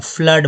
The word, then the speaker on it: flood: देखेंगे प्रैक्टिस में, FLOOD, double O का उच्चारण जो है अभी हो रहा है, फ्लड बोल रहे हैं, फ्लड बोल रहे हैं, जबकि हम ऊन बोल रहे हैं, है ना।